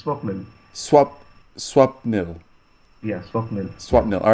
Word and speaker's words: Swapnil: Is it Swapnil Yes, Tewari? you are right. Bang on. First time, it's Swapnil.